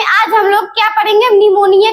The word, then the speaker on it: pneumonia: यानी क्या होता है निमोनिया हम लिखते हैं लेकिन ये पी जो होता है इसका साइलेंट में साइलेंट में रहता है उसके बाद देखेंगे